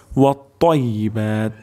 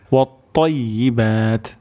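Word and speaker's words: وَالطَّيِّبَاتُ: আমাদের এখানে ত উচ্চারণ করতে হবে এবং তর উচ্চারণটি মোটা হবে। ওয়াত-তাইয়্যিবাত, ওয়াত-তাইয়্যিবাত, ওয়াত-তাইয়্যিবাত।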